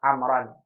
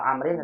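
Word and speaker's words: عمرو: Ibu mau baca Amr atau Amrin atau Amrun atau Amron. Iya. Tergantung kitanya mau baca Iya. dengan sukun atau pakai harokat.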